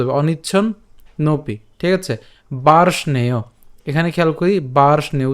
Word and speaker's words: বার্ষ্ণেয়: এখানের এ কারটা উচ্চারিত হবে, তাহলে বার্ষ্ণেয়, বার্ষ্ণেয়।